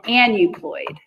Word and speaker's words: aneuploid: in front of that, but AEU, how do you pronounce that? So they put an N. So it's called an aneuploid.